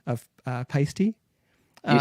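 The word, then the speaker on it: Paiste: when I met Kelly pisty I just remember asking like the first time I was there and they're like rhymes with it rhymes with feisty and they were so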